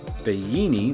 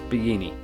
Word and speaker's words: Bellini: So it's a small pronunciation difference, but I mean, if you don't say it like they say it, they're not going to understand what you're saying at all. So it's Bellini. There are multiple Airbnbs in